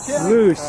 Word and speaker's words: loess: Loose. LOESS. L-O-O-E-S. L-O-E-S-S. Yeah. Loose. Loose. I can't pronounce anything, so Last is I'm trying to learn Spanish.